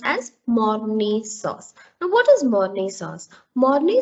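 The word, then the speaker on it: Mornay: the vegetable sauce is basically money sauce it's pronounced as mourni sauce now what is money sauce money sauce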